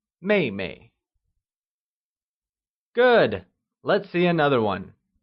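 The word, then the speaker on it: 妹妹: good younger sister translates as mayay it is pronounced using the following tone let's try and say May May good let's see another one elder brother becomes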